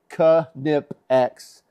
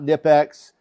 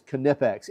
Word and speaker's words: Knipex: And by the way, yes, it is spelled or it is pronounced Kipex. If you talk to them, they'll tell you that it's not Nipex. Um, it is Kipex.